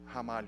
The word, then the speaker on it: Ramalho: comm slash hamari oh so my last name you pronounce as if it started with an age Hamal you support in Portuguese that's how we pronounce they are in the beginning of our word so that's that's where